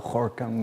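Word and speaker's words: Gorkum: korkum in holland so you have to be dutch to really pronounce that well horcom with the hay and i grew up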